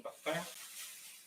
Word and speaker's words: mukbang: Am I pronouncing that right? Mukbang?